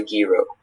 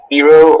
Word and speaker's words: guiro: In Jake's band, Robert plays the drums, Rita plays the guitar, and Juan plays the guiro. Guiro. So Guiro. Wait, can you repeat the two pronunciations again? Guiro or guiro.